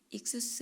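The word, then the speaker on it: ἰχθύς: 단원의 물고기 로 번역된 이투스 입니다 익수 스 라고 발음하기도 합니다 이 단어는 헬라어로 물 고개를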